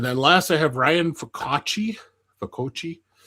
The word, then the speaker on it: Pepiot: And then last, I have Ryan Pepiot. Pepiot. Pepiot, it's pronounced.